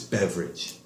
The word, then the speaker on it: beverage: people in society Alex pronunciation wise you said beaver Ajit's beverage it's a short eat not alone you said what's the